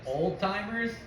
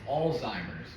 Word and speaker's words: Alzheimer's: you you said oldtimers altimer altimer like they're all time NBA no like altimer it's Alzheimer's with a Z yeah pronoun how do you pronounce it alltimers it's all but you say it quick Alzheimer's that's what I